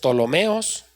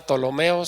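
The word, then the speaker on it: Ptolomeos: Si alguien está escribiendo esa palabra Tolomeos, se escribe con P al principio. Tolomeos.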